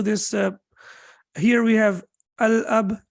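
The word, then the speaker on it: الأب: uh here we have al-ab so how do we pronounce it right so Lam will be pronounced while I'm will be pronounced because after Lam there is no we don't see the over here means the father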